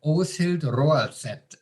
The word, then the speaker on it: Åshild Roaldset: What an amazing Norwegian name, Åshild Roaldset. I didn't possibly even pronounce it properly, but that was perfect.